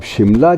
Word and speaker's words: शिमला: अब शिमला जो था, शिमला हम उसको बोलते शिमला ही हैं, स्थानीय भाषा में भी, हिमाचली भाषा में भी शिमला बोलते हैं, लेकिन स्पेलिंग उसके बरसों तक या सेंचुरीज तक शिमला ही चलते रहे, SIMLA, क्योंकि उनको शय बोलने पे अंग्रेज़ों को अजीब सा एहसास होता था, तो उन्होंने